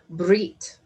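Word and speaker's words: בְּרִית: a betresh yottav and it is pronounced as brit the word and it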